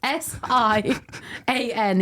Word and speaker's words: Sian: Right, imagine Sian isn't spelt with a H or an R. It's Sian. It's a Welsh spelling.